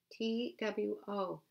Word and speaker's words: two: T-W-O, two. It's not pronounced the way we think it would be. We would think it would be two, but it's two.